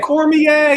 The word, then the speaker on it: Cormier: Cormier is the pronunciation.